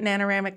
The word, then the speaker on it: Nanoramic: start by talking about nanoramic Laboratories am I pronouncing that right nanoramic Laboratories yep you can think of it like